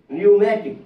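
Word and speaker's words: pneumatic: না এন এর পূর্বে নিউমেটিক নিউমেটিক এখানে পি এর উচ্চারণ হবে না এখানে পি এর উচ্চারণ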